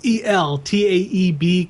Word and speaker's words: Eltaeb: Patrick Zircher, Zircher, storytellers, with Gabe I always mispronounce his name, and I love his work. It's Eltaeb colorist, Rob Lay as letterer, with Patrick Zerker and Gabe Eltib on the cover.